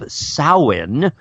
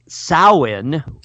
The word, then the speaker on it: Samhain: ancient Celtic tradition of sowhen which of course is spelled Samhain because man do the Celts like to pronounce things strangely so anyway sowhen or Samhain which eventually